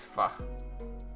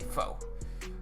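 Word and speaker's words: Pho: I was like bro it's Fu you got to say it right it's kind of disrespectful to say foe you know and so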